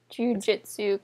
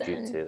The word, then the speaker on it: Jujutsu: You said Jujutsu. Jujutsu Kaisen. Jujutsu. It's you, not an I.